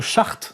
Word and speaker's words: Schacht: monsieur qu'on prononce agemar chart n'est-ce pas enfin qui s'appelle comme ça mais ça se prononce chart oui agemar chart nous